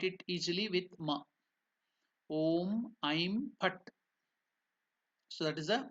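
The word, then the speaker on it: ऐं: It is not aim. You should be careful. It is Aim. That's why to make you understand, I have put only I and M. So I is elongated. I have put the strokes on the head of the I to indicate that it is elongated or it is Dirgha.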